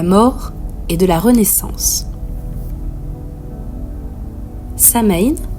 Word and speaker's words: Samhain: et de la Renaissance Samain signifiant fin de l'été en vieil irlandais prononcé so in est l'un des quatre